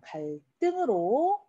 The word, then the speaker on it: 갈등: 그럼 갈등으로 된소리 해서 발음을 할 거예요. 쓸 땐 상관없고요. 발음할 때만이에요.